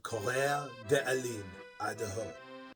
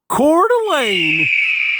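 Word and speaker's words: Coeur d'Alene: on Sheriff Norris of K de Alo I'm just kidding uh the way you pronounce that city name I learned is actually cordelane very grading on the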